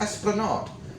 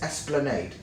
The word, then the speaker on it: Esplanade: However, some people seem to pronounce it as Esplanade, but I'm telling you it's Esplanade, Ryde Esplanade.